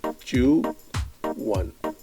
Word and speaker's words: chuan: Today's word is chuan, and is pronounced chu-one.